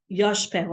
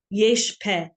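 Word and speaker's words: Yishpah: We have the son of Binyamin, Yoshpeh. I always say this, that's not exactly how you pronounce it. Yeshpeh.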